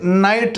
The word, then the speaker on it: night: जैसे नाइट लिखा जाता है NIGHT, ऐसे ही होता है, लेकिन यहाँ पर जो जी और एच है वो साइलेंट होता है।